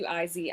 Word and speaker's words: ISIS: and their parents so we changed it to izi which is how we pronounced it anyways we always said pronounce it